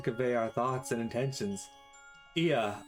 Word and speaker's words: Ea: our thoughts and intentions IA I believe was the pronunciation used when referring to our people though it is not